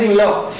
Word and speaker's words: in law: in la la Au Quiero que recuerdes que se pronuncia como una O ahí cerradita o in la lo